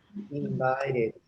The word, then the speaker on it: invited: call They invited. invite me to a party. Just remember some of the verbs that you have to when you must pronounce the ed.